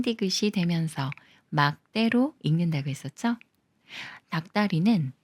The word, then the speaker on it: 닭다리: 되면서 막대로 읽는다고 했었죠 닭다리는 닭의 다리로 닭이 꾸며 주는 말이고 리을 기억 받침 중에 리얼은 생각 말고 기억과 디귿이 만나는 거라서 디귿을 쌍디귿 소리로 읽어요 닭다리 닭다리 이번에도 마찬가지로 기억 받침이